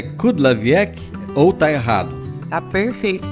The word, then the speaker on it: Kudlawiec: Ô Carla, eu pronunciei correto, é Kudlawiec ou tá errado? Tá perfeito, pronúncia correta, Kudlawiec.